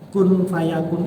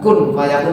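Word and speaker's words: كن فيكون: Kun berarti nun mati, nun sukun. Bertemu fa berarti ikhfa. Jadi bacanya langsung persiapan di makhraj fa. Kun fayakun, gitu. Jadi tidak kun fayakun nanti itu kan gitu. Kun fayakun. Jadi kita persiapan di makhraj fa didengungkan.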